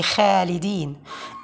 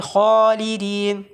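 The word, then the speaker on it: خالدين: Many of the students are pronouncing it like light. They say Khalidin. Khalidin. While it should be Khalidin.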